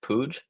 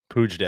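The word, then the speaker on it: Puig: Is that how you pronounce it? Pooge. That's what I'm told. Pooj day.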